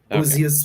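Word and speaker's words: Búzios: Buzios is spelled Buzios. Is that correct? Yes, with a little thingy over the U, but Buzios, like you said, that's it.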